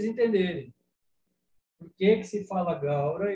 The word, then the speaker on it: Gaura: Mas nessa gravação que eu compartilhei com vocês, ela canta Gaura, Gaura. Por quê? Gaura e Goura. Gaura é a pronúncia do sânscrito clássico, do sânscrito que era falado na Índia lá há milhares de anos.